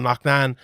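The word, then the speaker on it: Loughnane: chris will obviously kabulev fought um um bringing lucknan in the uh luckney and as they call him it's an irish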